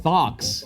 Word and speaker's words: thock: on this- Clicks, deep thunks, Thocks. thoughts. Austin, bad word. Spell it for me.